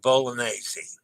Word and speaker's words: Bolognese: A reminder that GN is pronounced NY as in lasagna and montaña. Same as the N in Spanish as in mañana. Okay. All right. So farfalle and bolognese.